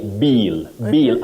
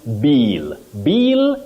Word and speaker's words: bill: about bill the bill many people say Bill Bill as if that word has the long sound e uhuh finance bill bill no you say bill bill the bill just like pill you don't say peel peel is a different thing yes pill is what we have in terms of a short sound e or ink uhhuh clear